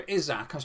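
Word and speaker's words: Isak: i was this guy who is alexander izaka's pronunciation back then i mean not that my pronunciations are anything to write home but now but now i know it's izak and it just sort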